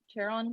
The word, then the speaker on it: Charon: Dante and Latope is, how do you say his name? Charon? Right. Give me some information. Charon, like the ferryman of the river Styx to like hell.